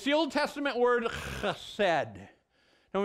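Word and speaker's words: חסד: It's the Old Testament word chesed. And when you pronounce that in Hebrew, you got to get that guttural sound in the back of your tongue there.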